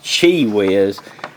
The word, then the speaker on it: QiWiz: It looks like QiWiz, man, but it's pronounced QiWiz.